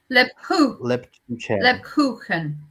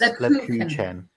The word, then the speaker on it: Lebkuchen: And Brigitte says it's pronounced Leb Chu Chen. Leb. The CH is a bit like a double L in Welsh. Lebkuchen. Is that right? So it's Koo. Yes, Lebkuchen. Thank you very much.